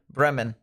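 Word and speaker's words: Bremen: west of Brean or Breman I believe is how it's uh pronounced it's not e it's Breman if you guys uh live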